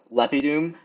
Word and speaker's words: lepidum: Uh lep i dum, we have two short. And then, the last syllable is followed by both an M over here and an N over here. So, it's followed by a double consonant, so that makes it long.